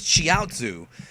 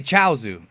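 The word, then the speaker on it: Chiaotzu: It's actually, the Chinese root is Chiaozu, but most of us say Chaozu because that's how they pronounce it in the Japanese version, Chaozu.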